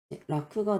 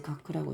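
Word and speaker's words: 楽: 예를 들어서 이런 느낌을 오토라는 단어가 있고 온이라던가 인이란 단어에서 온갖크네 라크가 들어가서 이제이 안자는 이제 라크 라크에 할 때 쓰는데 라크는 이제 즐기다라는 뜻으로도 쓰이는데 라크는 라크는 이제 음악자라고 쓸 때는 이제 가크라고 읽어요.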